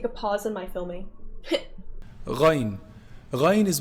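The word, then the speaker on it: غين: So ghayn is pronounced from the top part, the highest part of the throat, the closest to the mouth.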